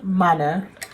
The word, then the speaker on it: Manah: I am Manah. The way it's spelt is the way it's said.